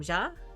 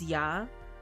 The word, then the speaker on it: ja: Is ja? I guess so. Is that how I would pronounce it in German? The J would be a Y sound?